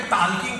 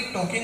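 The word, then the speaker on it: talking: वॉकिंग करते करते टाल्किंग करेंगे। मैंने कहा शंभू, वॉकिंग नहीं वॉकिंग होता है, टाल्किंग नहीं टॉकिंग होता है, इसमें एल साइलेंट आता है।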